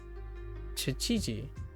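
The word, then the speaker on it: 七時: Shichiji, shichiji, shichiji, and shichiji. The she is supposed to be like she in sheets.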